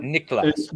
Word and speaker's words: Niklas: But then again, Niklas, right? Yeah, Niklas. So it's brand recognition is the hard to pronounce name is sometimes a brand recognition.